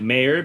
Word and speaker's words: Mayer: But because of that, like I'm intentionally pronouncing it Mayer because a lot of people MEYER. think it's spelled Meyer, where it's MAY.